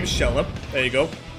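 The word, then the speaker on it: Xelha: And yes, that's her name, Shella. There you go. In case you were curious about the pronunciation of her name, it is Shella.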